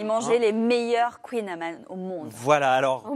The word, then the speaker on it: kouign-amann: J'ai lu que c'était Kunyaman. Amand avec un N à la fin.